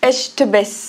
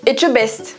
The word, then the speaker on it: Etchebest: Non, regarde, il y a un T avant. J'ai jamais réussi à le prononcer. Vas-y, allez, douce. Non, mais si, regarde. E-T-C-H, ça fait. Echtebes. Non. C'est fou comment tu. Mais attends, pourtant, tu sais dire le etche. Etche. Et le best. Etchebest.